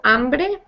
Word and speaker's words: hambre: So tengo hambre and tengo sed. So Kenneth, can you go ahead and tell me how you say I am hungry? Tengo hambre. Hambre. Tengo hambre. Yeah, that H is silent.